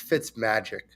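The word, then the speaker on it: Fitzmagic: okay first of all when you say his name it's fits magic fits oh it fits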